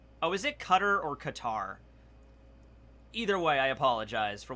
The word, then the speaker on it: Qatar: year for mihawk day the second way you pronounced it qatar it's qatar all right it's about 137 oh my god